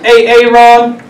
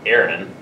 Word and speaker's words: Aaron: now you better be sick dead or mute a Aon here uh why didn't you say it the